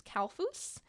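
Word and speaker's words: Kalfuß: last name, which is Kalfus. So this would be another Esset and would be pronounced with two S's at the end.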